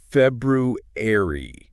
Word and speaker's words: February: The suggested pronunciation is February. February. And the tricky part is that first R. Yeah, it's almost silent, isn't it?